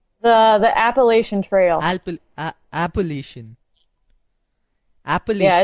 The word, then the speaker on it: Appalachian: But you told me that in the trail wise, your long-term goal was to trail the Alpination. Have I pronounced it right? The Appalachian Trail. Appalachian.